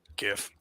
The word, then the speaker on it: GIF: GIF. I say GIF. Oh yes. Because the G There stands for we go. graphic, right? Graphic is a hard G.